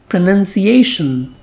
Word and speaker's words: pronunciation: is spoken as pronouns but its noun form has a different spelling and sound it has n-u-n so it is spoken as pronunciation pronunciation now another meaning of this